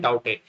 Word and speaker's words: Tauktae: इसको लिखते हैं TAUKTAE, लेकिन इसको प्रोनाउंस करते हैं टाउटे।